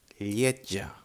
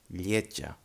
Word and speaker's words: lletja: J For example, in lletja. Lletja. Lletja means ugly and is spelled L-L-I-T-J-A. En català, L-L-E-T-J-A. Lletja. Lletja. Again, we have this sound, no? The J, like a T and a J.